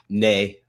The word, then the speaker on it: Nay: Uh, Kevin, I didn't want to uh mispronounce Nay. Nay. Okay. Just like the horse.